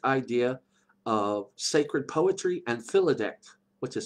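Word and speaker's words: filidecht: with the bardic idea of sacred poetry and philidect, which is spelled F-I-L-I-D-E-C-H-T.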